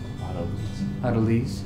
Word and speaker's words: autolyse: Autolese. Do you pronounce it Autocles?